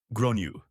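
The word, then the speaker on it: Gráinne: and I said well in Ireland they typically pronounce it Gru her face went red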